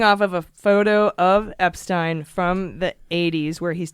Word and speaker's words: Epstein: on the board and he spelled it Epstine. And I think that was to get people to say it right.